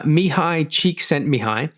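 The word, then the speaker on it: Csikszentmihalyi: hard to see it say his name uh mihai cheek sent me high so it's a pretty hard thing to pronounce but uh mihai cheek sent me high he basically elaborated and pioneered a lot of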